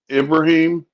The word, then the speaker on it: Ibrahim: Yeah, Muslims pronounce an I like an E. Traore. Okay, thank you. Yeah, Muslims like we would pronounce that Ibrahim. Muslims pronounce it Ibrahim. The I's are pronounced like E's. Right.